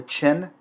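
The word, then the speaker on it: Qin: we laos a legalism the scholar gentry the chin dynasty the queue is pronounced like a ch in chinese the han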